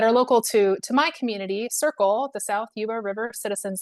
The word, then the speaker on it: SYRCL: It's pronounced Circle, SYRCL.